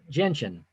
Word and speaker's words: gentian: Oh, gentian. Gentian. Yeah, G as in George.